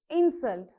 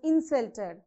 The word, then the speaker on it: insult: ins insult okay so that was a great insult so insult here is noun so how do you pronounce that was a great insult whereas if i say i was insulted i was insulted so here the insult is verb isn't it